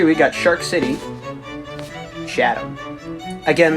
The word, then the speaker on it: Chatham: Now at number 3, we got Shark City, Chatham. Again, this one is also part of a series of towns that end in ham, but are pronounced Forget the H.